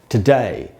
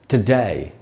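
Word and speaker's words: today: इसको हम ऐसे पढ़ेंगे टुडे। टू का साउंड नहीं होगा दोस्तों, ट का साउंड होगा टुडे।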